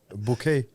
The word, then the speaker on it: Bucket: like do you remember that woman uh bouquet but it's spelled b-u-c-k-e okay oh yeah you